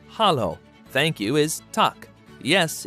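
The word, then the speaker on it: Halló: hello and Icelandic is pronounced Hollow thank you is talk yes is yah no is nay goodbye is bless 14.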